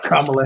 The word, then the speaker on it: Kamala: How you pronounce her name? Kamala Harris.